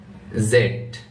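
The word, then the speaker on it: Z: এক্স এক্স ওয়াই ওয়াই জেড এটাকে দুইভাবে পড়া যায়।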